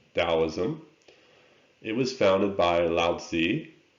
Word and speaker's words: Taoism: philosophy is taoism and sometimes you see it spelled with a t still taoism it was founded by